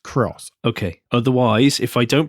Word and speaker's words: Aygo X: Welcome to the Motoring Podcast, a Toyota Aygo Cross launch special edition. Hello, I'm Alan. Hello, I'm Andrew. Toyota Aygo X. Cross. It's written as X, but it's pronounced Cross.